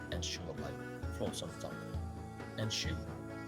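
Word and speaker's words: 円周: Enshu is the Japanese word for circumference, pronounced Enshu. A soft take, glide that, opens the mouth near the front.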